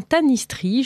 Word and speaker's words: tanistrie: Donc c'est bien tanistrie, je l'ai mal prononcé pendant l'émission, et ça s'écrit T-A-N-I-S-T-R-I-E.